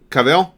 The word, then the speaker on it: Cavill: probably remember Tristan I really like Henry Cavill Cavill that's how it's pronounced I like Henry Cavill as Superman right